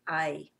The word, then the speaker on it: hay: van aprender el verbo I in this lesson you're going to learn the verb I which means there is or there are it's spelled like hey in English but you pronounce it like I remember you don't pronounce